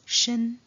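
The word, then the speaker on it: 身: establish to the right is a second character pronounced as shin and it depicts the body of a pregnant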